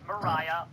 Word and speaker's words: Mariah: So her name is pronounced Mariah, like Carrie, Sharon.